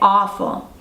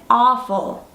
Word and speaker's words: awful: Similar to awesome or awesome, we say awful. So let me hear you say it, awful. Great. And it's important to complete the word, so don't leave off the L sound, awful.